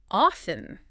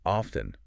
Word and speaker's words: often: and then there's often often and you know what's interesting about often you can actually pronounce it two ways two ways you can